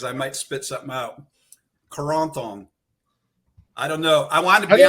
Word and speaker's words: Corentin: much as possible, like putting myself in mind of various French things, French fries, French bread. Yes. And then I say Corentin.